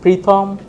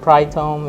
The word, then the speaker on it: Pritom: be confused so uh my name is pritam so I think the pre it's not prai Tome it's just pre-thumb and another thing is